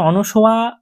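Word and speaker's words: অনসূয়া: এবার এখানে দেখো যেরকম আমরা প্রথমেই জানলাম যে প্রত্যেকটা চরিত্র, অনসোয়া, প্রিয়ংবদা, গান্ধর্ব বিবাহ, এই যে টার্মগুলো তোমরা পেলে, এই টার্মগুলো সম্পর্কে একটু জেনে নেওয়া তোমাদের দরকার।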